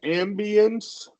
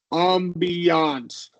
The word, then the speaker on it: ambiance: Yeah, it's two ways you can go. You can say a magical ambience, Okay. or you can go with like the fancier ambiance.